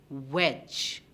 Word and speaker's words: wedge: now let's look at the word wedge is the d indeed silent wedge wedge yes it is